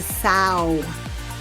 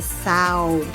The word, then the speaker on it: sow: so so it depends if it is a noun if it's a noun it's a sow and that means a female pig so a female pig is called a sow but as a verb it's so we need to sow